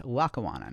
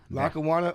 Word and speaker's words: Lackawanna: It's Lacawana, not Lacawana or Little LA.